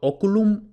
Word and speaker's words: oculum: es la penúltima sílaba y como es breve eso significa que el acento va en la sílaba anterior por eso oculum ocol esto es importante